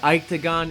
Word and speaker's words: Iketagon: up welcome back another Ike to GaN in your life Ike Feldman here from octagon calm i ke ta gon you guys are learning how to spell it it's not octagon its octagon I'm now in